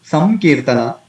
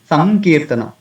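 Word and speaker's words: संकीर्तन: Instead of samkirtana, we can say sankirtana, because after anuswara ka is there. So naturally, according to this rule, this anuswara will turn into the last syllable of that particular varga, na, sankirtana.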